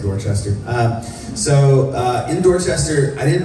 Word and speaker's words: Dorchester: You gotta say it like that if you're gonna say Dorchester.